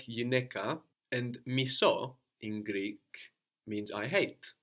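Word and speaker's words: μισώ: So we have miso, which is I hate, with the accent on the end.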